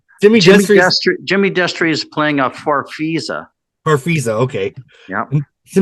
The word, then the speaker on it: Farfisa: A farfisa organ? Is that how you say it? Jimmy Destry is playing a farfisa.